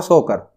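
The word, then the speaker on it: Tso Kar: इसमें T silent है, सो मोरिरी और सोकर।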